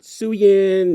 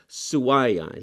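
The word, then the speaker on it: Suayan: Sawayan, remember that. Not Suyin, not Cyan, Sawayan. He even told me there at the con, he's like, yeah, people always mispronounce his names. Sawayan. Not so much with the Y, okay?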